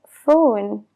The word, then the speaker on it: phone: letra que ya existe, como la PH en las palabras phone o pharmacy. ¿Por qué existen esos casos? Porque no son palabras inglesas, son derivadas del griego. Hace muchos años sí que se pronunciaba la P y la H y por lo tanto se escribe con ellas. Pero con la evolución del idioma eso ha cambiado y ahora se pronuncia como una F.